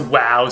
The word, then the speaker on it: waw: letter wow it's pronounced wow so it kind of sounds like our word w-o-w today in english but as you can